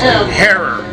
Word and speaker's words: Herer: It's Herer, like in terror.